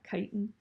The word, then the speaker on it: chitin: structure it's gonna be in a molecule called chitin that's how you pronounce that chitin and it's gonna form the harder shells that